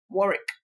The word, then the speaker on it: Warwick: Is it Warwick or yes, Warwick? Warwick. What? If this was Unilag now, it would have been very easy to pronounce.